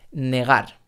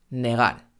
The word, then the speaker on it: negar: otra palabra puede ser negar negar no estoy diciendo en negar sino negar y tampoco estoy diciendo en dejar mucho cuidado cuidado no cuidando